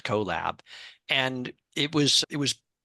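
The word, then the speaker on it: Qllab: it was q l l a b but pronounced collab and it was it was really a combination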